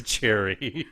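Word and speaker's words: Gerry: pronounce it is Jerry.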